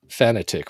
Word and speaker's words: fanatic: i i realized that i was saying fanatic wrong because i lived